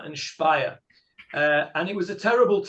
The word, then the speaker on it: Speyer: Spelled S-P-E-Y-E-R. Pronounced Speyer.